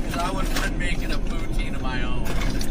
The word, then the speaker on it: poutine: So, I'm glad I didn't try the poutine cuz I was making a poutine of my own. I said it wrong, too. I got out there. Can I get a poutin?